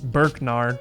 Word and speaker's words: Burkgnar: check his other account out, which is at Burknar, which is spelled BURKGNAR.